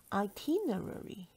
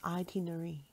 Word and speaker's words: itinerary: Itinerary. Most people pronounce it as itinerary. Itinerary. It's actually itinerary, which has five syllables.